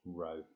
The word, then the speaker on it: rho: um it's called a rho um equals m over z um so if you it's pronounced row it's a greek letter um but it essentially